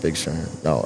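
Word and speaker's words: FQKZ: So that's why I do Big Sherm is like all the hip hop stuff on like streaming, but then the QKZ, pronounced Big Sherm, is my electronic production.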